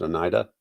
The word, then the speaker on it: Oneida: How you say it's pronounced? Oneida.